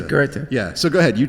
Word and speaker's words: Goethe: Goethe. Yeah, we'll just say Goethe.